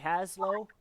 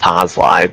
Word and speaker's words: Haslow: I'm here with Haslow. That is how you spell your name, right? Or say your name, right? It's actually pronounced Hoslai, but I wouldn't be surprised.